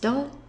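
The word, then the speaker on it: 土: place or soil and when you use it as a day of the week it's pronounced do we add yo B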